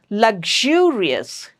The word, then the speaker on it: luxurious: Please don't pronounce this as X like I don't know people pronounce it very differently. Sometimes it's the sound. Luxurious. The sound that we have done in the part one.